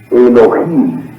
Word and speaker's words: Elohim: La H tiene sonido, se pronuncia como J, de manera que su pronunciación exacta es Elohim. Si la palabra Elohim es pluralizada, entonces tenemos